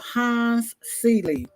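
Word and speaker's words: Hans Selye: A guy by the name of Hans Seeley. First name is spelled Hans, last name Selye.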